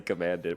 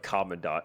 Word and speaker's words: Commandant: I learned that man I know people in the phandom still say command it which say it however the heck you want but man the the actual pronunciation is like common Dot and that like threw